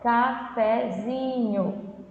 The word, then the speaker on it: cafezinho: Então, por exemplo, cafezinho. Vamos falar, cafezinho. Percebe que o zinho é mais forte, né? Cafezinho, você se prolonga mais, né?